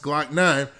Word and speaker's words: 9lokknine: year old jacobia smith whose stage name is pronounced glock 9 because the two men